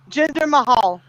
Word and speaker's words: Jinder Mahal: Jinder Mahal.